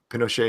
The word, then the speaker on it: Pinochet: You can be Pinochet.